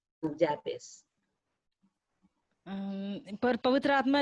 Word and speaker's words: Jabez: In Hebrew, it's pronounced as Yabez.